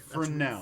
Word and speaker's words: Fresnel: Keegan plays a guy named Fresnel. Am I pronouncing that correctly? You are pronouncing it correctly. Fresnel.